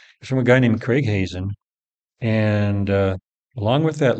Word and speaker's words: Hazen: right Craig Hazen just Hazen is spelled just like it sounds h a Zen and